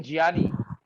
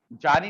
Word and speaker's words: ज्ञानी: हाँ, गलत उच्चारण है, इसको बोलते हैं ज्ञानी, जानी नहीं, हाँ ये जानी नहीं, ठीक है, ज्ञानी। आप कभी भी देखिएगा जो